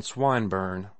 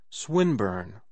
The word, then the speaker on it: Swinburne: it meant this man swine burn he began attempting to put his plan into execution and pronouncing the i long who swineburn he repeated with the same mispronunciation the poet swinburne she corrected yes that's